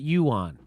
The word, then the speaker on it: yuan: siri that's not helpful you on i hear somebody just told me you want and i'm trying to hear it online too you on you on you pronounce it yuan so saudi arabia considers